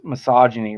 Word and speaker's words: misogyny: I could not pronounce misogyny right and I find you figure it out it's like oh wait I couldn't pronounce it right because when I'm reading it I'm thinking a hard G in there and it's like I'm